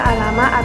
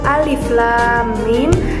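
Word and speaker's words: الم: dari contoh tersebut itu bukan dibaca Alama atau sama melainkan dieja satu persatu yaitu alif.lam.mim Dampo shines huruf-huruf pada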